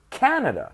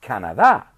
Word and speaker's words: Canada: Canadian no kind of odds can't so it's Canada not Canada as you say in Spanish Canada so people from Canada are Canadian okay good